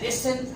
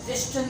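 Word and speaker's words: listen: हम कह रहे हैं लिसन, लिस्टन नहीं कह रहे।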